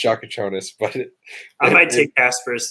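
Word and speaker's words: Jakučionis: I'm taking Kasparas Jakusianis. I know that's not how you say it, but that's how I want to say it every time. I know it's Shakachonis, but I might take Kasparas there.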